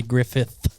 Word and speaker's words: Griffith: names of shows wrong it is Andy Griffith oh I was close